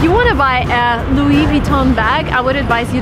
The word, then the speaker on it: Louis Vuitton: So, the right way to pronounce the name of the shop is Louis Vuitton. Again, everything is French, come on. So, everything needs to be pronounced in a French way if you want to